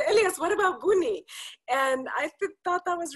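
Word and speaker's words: Buunni: it in the chat because it's b-u-u-n-n-i to use two ends um mainly because we thought maybe with the american pronunciation we didn't want people to call us bunny coffee right well wait but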